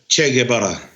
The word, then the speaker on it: Che: So um I'm named after che and and che is an Argentinian revolutionist who became famous and his mahi in Cuba was Fidel Castro. It's pronounced ch like chocolate like chid like chocolate.